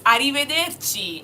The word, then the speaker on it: arrivederci: Then the next word on our vocabulary here is arrivederci.